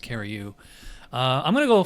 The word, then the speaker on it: Curieux: score for the alash carry you that's actually how it's pronounced CaRu uh I'm going to